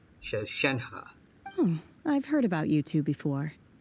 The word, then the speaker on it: Shenhe: Shenhe. So your name's Shenhe. Paimon's name is, well, Paimon. And this is Paimon's travel buddy. Alright, so I've been pronouncing it wrong the whole time. Shenhe.